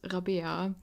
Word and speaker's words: Rabia: my name is my actual name is rabia at least that's how it's pronounced in german but i tell most